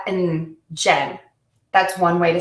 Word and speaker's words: Jen: If you use the short version of my name, Jen, that has one beat or one syllable.